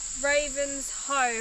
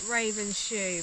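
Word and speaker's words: Ravenshoe: Herberton and Ravens Hoe. Apparently you say it like that. I was saying it Ravens Shoe, but...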